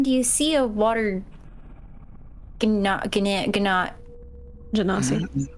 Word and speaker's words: Genasi: Genasi. Water I always want to say ganoosh, and I'm like, that is not the fucking word, and It's it's not even pronounced.